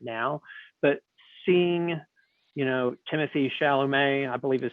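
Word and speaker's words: Timothée Chalamet: response to it now but seeing you know timothy chalamet i believe is how his name is pronounced no one knows yeah i think he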